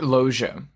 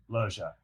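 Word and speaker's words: Loggia: Robert Loia. Loia.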